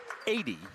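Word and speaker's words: Adey: So we checked the pronunciations with Coach by email as well as Coach Gane, and they told us 80, so that's how we're pronouncing A-D-E-Y.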